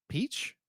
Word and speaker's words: Peach: It's got this they're gonna be like, it's Mario going on his revenge quest, and then it turns into Princess Peach.